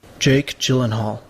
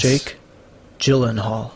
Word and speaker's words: Jake Gyllenhaal: a silence here's the actual pronunciation according to pronunciation book on youtube jake gyllenhaal yes jake gyllenhaal so i was nearly there nearly gyllenhaal gyllenhaal